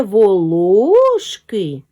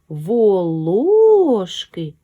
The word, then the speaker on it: волошки: далі и перевіряємо ложки шукаємо наголос запитуємо це волошки волошки з наголосом на другий склад склади речення про цього